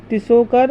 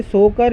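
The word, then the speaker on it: Tso Kar: इसमें, एक ये है तिसोकर और तिसो मोरिरी। ऐसे सोकर या सो मोरिरी भी बोल देते हैं, टी साइलेंट भी कर देते हैं। वैसे तो तिसोकर और तिसो मोरिरी ज़्यादा बोला जाता है।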